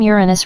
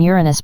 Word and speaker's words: Uranus: pronunciation of the name Uranus preferred among astronomers is slash jrns yorns with stress on the first syllable as in Latin Uranus in contrast to slash